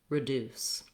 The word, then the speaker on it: reduce: r instead of an So deuce, a deuce, reduce. For most people, that really helps them remember and say that word accurately with the correct vowels and the correct syllable stress.